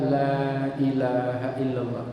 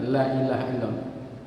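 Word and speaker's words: لا إله إلا الله: itu mohon pertama tadi hati-hati membaca la ilaha illallah. Jangan kebaca pendek, jangan la ilaha illallah. Ya. Kalau cepat nggak apa-apa, memang tawazunnya begitu. Tapi kalau ini bacanya pelan tapi lanya kebaca pendek, itu yang salah.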